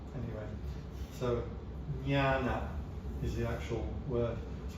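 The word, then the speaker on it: jñāna: It's actually a different N to the regular N in the Pali and the Sanskrit. There are slightly different ways to pronounce the N. Anyway, so jnana is the actual word.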